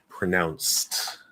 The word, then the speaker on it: pronounced: pronounce i guess um is it with a z at the end followed by d pronounced pronounced no because that c is an s sound okay c's don't maybe